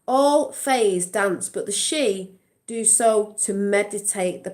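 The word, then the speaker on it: sidhe: i don't even know oh it's pronounced it's the she okay it's pronounced it's she but it looks like shitty i'm just going to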